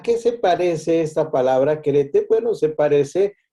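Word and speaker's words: χαίρετε: es la palabra querete, así con acento en esa E que está más chaparrita, fonéticamente querete.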